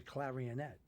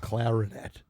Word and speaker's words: clarinet: They're operating and as they're operating, she's playing the clarionette. Wow. Yeah, it was amazing. Clarionette. Yeah, the clarinet. Why did I say it right? It's clarinet.